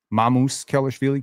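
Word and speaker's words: Sandro Mamukelashvili: Notice I'm saying it correctly. Mamoose Kellishi.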